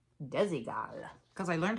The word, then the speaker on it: Desigual: This is not a great brand, but I like saying it, Desigual. Desigual cuz I learned how to say it right.